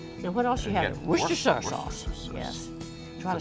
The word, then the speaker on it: Worcestershire: Worcestershire sauce. Yes. Try to say that three times. Worcestershire. How do you say it? Worcestershire? You just leave out the first two R's.